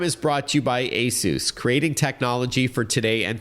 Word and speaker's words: ASUS: The company is pronounced ASUS, but if you want, you can call it ASUS, like all my friends do.